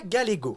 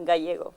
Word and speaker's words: Gallego: Gallego. Ah, Gallego. Gallego? Oui. Ça commence super mal. C'est une dinguerie. Pas de problème. Ça, c'est la prononciation française.